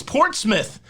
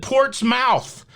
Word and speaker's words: Portsmouth: making sure i pronounce portsmouth correctly i almost called it port's mouth and she said that was wrong and so portsmouth hopefully